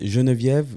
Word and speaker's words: Jenevieve: Je répète, Geneviève, ça s'écrit avec un J, donc J E N